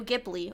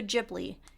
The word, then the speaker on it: Ghibli: I wanted to do Studio Ghibli or Studio Ghibli it can be pronounced either way however you prefer and so now two